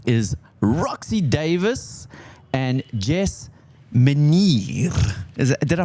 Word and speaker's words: Meniere: Roxy Davis and Jess Meniere. Did I pronounce that correctly? Almost. I mean, it's the most interesting way I've ever heard my name pronounced. It's actually Meniere. It is Meniere.